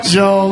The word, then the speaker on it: Job: Yeah, Job.